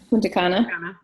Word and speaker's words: Punta Cana: I don't know how you say it. You just said it right the second time. Punta Cana.